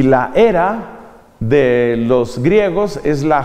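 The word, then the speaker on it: Hera: es casado la esposa de zeus se llama era que se escribe con h pero se use sin fin la era multitud de veces los soldados quieren ser valientes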